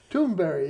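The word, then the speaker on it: Thunberg: greta thunder tune burger actually if you hear her pronounce it it it sounds like it's very strange toonberry yeah yeah well it's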